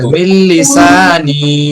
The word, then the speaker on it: من لساني: واحلل عقدة من لساني মিল লিসানি উচ্চারণ হবে মিল লিসানি واحلل عقدة من لساني